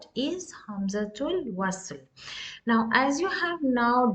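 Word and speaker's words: همزة الوصل: For example, here in this word, hamzatul wasl. How do I pronounce here? I am completely omitting the hamza here, and straight I'm going from ta marbuta to lam with sukun.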